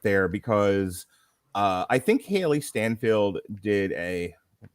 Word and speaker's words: Steinfeld: And I kind of want to start there, because I think Hailee Steinfeld did I'm pronouncing her name right. Steinfeld. Stein, like beer Steinfeld, I think is how it's said.